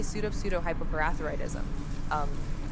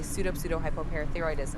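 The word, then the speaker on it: pseudohypoparathyroidism: For pronunciation's sake, it's usually broken down into smaller parts as pseudo-hypo-parathyroidism. When put together, it's pronounced as follows: Su-dash, high-dash, po-dash, thigh-dash-roid-dashism. Quite a mouthful, isn't it?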